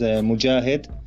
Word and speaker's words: Mujahid: and for your audience you can prance my name as Mujahid mo Zhi a HED enjoy it but you